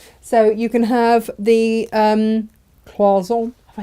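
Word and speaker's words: cloisonné: So you can have the cloison. Have I said that right? Cloison. It's like a w sound in the middle.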